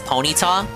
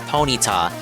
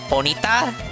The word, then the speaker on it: Ponyta: Um, but I always called Ponyta Ponyt. Um, that sounds dumb, but the show the show pronounced it as Ponyta, but I believe it's meant to be Ponyita like like bonita, like pretty in Spanish.